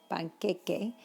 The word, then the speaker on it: panqueque: Panqueque. It's queque, not que. Panqueque.